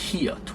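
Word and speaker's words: 히읗: And then next, which is our last consonant, hiot, which is pronounced like an H sound in English.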